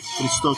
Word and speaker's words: Christo: I'm here with how you pronounce correctly because on the borders I miss Christo. Yeah. Christo, correct. Christo.